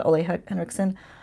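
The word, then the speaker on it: Ole Henriksen: few videos she's using this right here the Olay Hendrickson that's the way you pronounce it I learned things this year I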